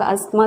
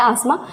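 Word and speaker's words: asthma: अस्थमा, आसमा जो भी बहुत लोग अस्थमा कहते हैं, वैसे होता है आसमा, क्योंकि इसमें जो टी होता है ना वो साइलेंट होता है, बट यू can called अस्थमा, आसमा anything, ठीक है ना।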